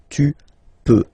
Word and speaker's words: peux: Okay, then tu peux. Same pronunciation and same spelling or writing. Okay, P-E-U-X. Okay, you don't pronounce the final X. Tu peux.